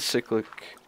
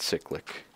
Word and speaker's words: cyclic: So basically, I have all the cyclic assemblers down here. And yes, I'm going to keep pronouncing it cyclic. I think it's cyclic, so it's going to be cyclic, just like cyclical, okay?